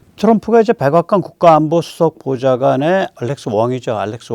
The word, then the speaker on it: Wong: 트럼프가 이제 백악관 국가안보수석 보좌관의 알렉스 왕이죠. 알렉스 왕. 황 씨입니다. 우리 한자로 쓰면 황을 캔토니즈에서 그러니까 광동어로 왕이라고 읽는 것 같아요.